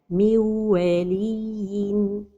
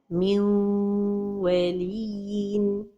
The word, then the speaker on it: من ولي: The mistake is to pronounce it idgham without ghunna. min waliyin.